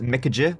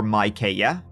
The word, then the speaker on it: Micajah: The Harpe brothers, Micajah, or Micaiah, depending on how you pronounce it, and Wiley Harpe were born Joshua and William, and they were born any time between 1748 and 1768.